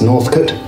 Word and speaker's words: Northcote: And little did I know that the proper way to pronounce it is Northcote.